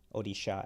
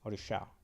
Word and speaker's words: Odisha: yeah chief minister of Orissa odisha actually orisha I think that that's how we pronounce it now but now they're